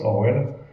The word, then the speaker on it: ORWL: d'un cabinet qui s'appelle Orwell ça s'écrit orwl ça se prononce Orwell qui a un cabinet